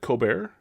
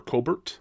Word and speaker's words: Colbert: This movie stars Claudet Coar or Colbert I think is actually how you pronounce it.